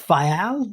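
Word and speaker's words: Faial: your new place in is it fal? Is that how you say it in the Azors?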